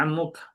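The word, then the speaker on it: عمك: H bukan ummuk bacanya. Ammuk.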